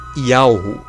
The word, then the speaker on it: YHWH: Yahushua está relacionado ao tetragrama YHWH, cuja pronúncia é Yahu, que significa Pai, ou seja, Deus, o Deus Criador.